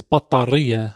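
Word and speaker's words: بطارية: The Arabic way to say this is battariya.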